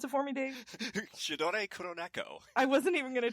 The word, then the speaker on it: Sidore Kuroneko: Sidore, pronounce it for me, Dave. Sidore Kuroneko.